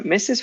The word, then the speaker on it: Mrs.: there are two syllables in this words exactly so mrs. would be pronounced like almost misses it would be well